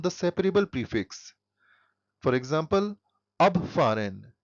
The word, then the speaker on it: abfahren: For example, abfahren. Here the stress is on ab, which indicates that it is a separable verb.